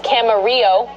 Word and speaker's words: Camarillo: FYI, it's Camarillo."